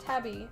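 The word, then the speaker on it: tabi: I like it there type of shoe pronounced tabby Oh interesting they're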